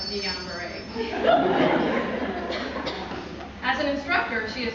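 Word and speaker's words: Guillain-Barré: mispronounce words such as saying Gillian bar instead of Dian Beret as an instructor she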